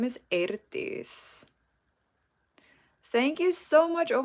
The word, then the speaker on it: Eirdís: But yeah, so the way you pronounce it is Eirdís. So the E and I together in Icelandic is pronounced as A. EI is A.